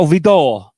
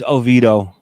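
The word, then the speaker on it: oído: And uh yeah, and it's not o it's not ovito, it's oido. Odo as well. It's oido. Okay, if you say so. But it looks like it's spelled odo. But it's called oido, mom.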